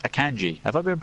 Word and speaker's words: Akanji: Same guy, just correctly pronounced. Akanji.